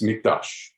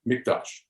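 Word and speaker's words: מקדש: the word there it's mikdash and uh if you you know i said with a q but it's actually a k the way you pronounce it and uh notice that word mikdash okay well when the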